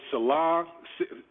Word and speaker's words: Saleh: I mean, we've heard, Eric Bieniemy, Robert Saleh. I don't know if I want to mispronounce his name, but the defensive coordinator with the 49ers.